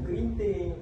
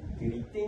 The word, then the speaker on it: keriting: Perkataan N tu sebenarnya tak ada pun dalam ejaan yang betul. Jadi a sebenarnya kita yang salah guna selama ni. Jadi jangan biasakan benda yang salah ya. Ejaan yang betul untuk kerinting adalah k E r i t i n g.